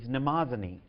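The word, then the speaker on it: Mnemosyne: the goddess of memory whose name in the Greek is namaz Oni and namaz Oni whose name is a spelled with some difficulty is spelled on the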